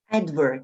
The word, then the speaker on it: advert: Advert се произнася на първата сичка ударение. Advert.